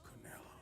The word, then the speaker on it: Canelo: Canelo.